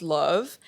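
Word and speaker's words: LOVB: it's spelled l ovb but it's spel it's pronounced love and so basically what league one volleyball is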